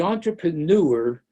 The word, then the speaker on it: entrepreneur: Narcissus was the entrepreneur. I have to stop here. Entrepreneur, rhymes with manure and sewer.